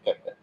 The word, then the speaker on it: kpt: Secara ejaan KPT, cuman secara pengucapannya dibaca KEP.